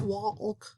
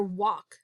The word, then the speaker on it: walk: hope you're saying that there's an l that is silent it's not walk we hear walk and let's stretch that